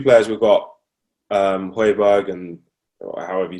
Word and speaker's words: Højbjerg: So I think the transfers that we've got so far are, because if you look at the 2 players we've got, Højbjerg and however you say his name, you said it right.